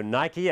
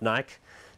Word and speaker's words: Nike: Okay, so Nike, and that is incidentally the correct way to pronounce the brand, not Nike.